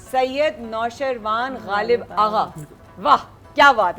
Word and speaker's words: सैयद नौशरवान गालिब आगा: Normally जो पुकारा जाता है वो गालिब आगा है, वैसे मेरा पूरा नाम सैयद नौशरवान गालिब आगा है। सैयद नौशरवान गालिब आगा, वाह क्या बात है, जबरदस्त।